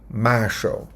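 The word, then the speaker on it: מָשָׁל: Eu acho que se pronuncia assim, Marshal.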